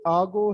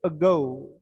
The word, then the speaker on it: ago: अब देखें, अब स्टार्ट में क्या साउंड आई, अब ना ये आगो है ना एगो है, हम इसे कहते हैं अगो।